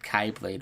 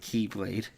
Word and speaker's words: Keyblade: I just like how Leonard Nemoy said Kaiblade once and then they had put a little footnote and like Dream Drop Distance and some pronounce it Kylblade instead of Keyblade.